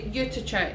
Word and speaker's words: Juttertje: Juttertje. No, in Dutch. Nee, juttertje. Juttertje, is it? Yeah, juttertje. Juttertje. Oh yeah, 'cause it's got the TJE in it.